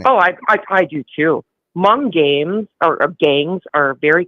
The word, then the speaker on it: Hmong: Hmong. They're HMONG. And but it's where are pronounced they from?